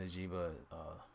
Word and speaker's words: Njigba: So, yeah, I think Jackson Njigba, that's how you pronounce his name.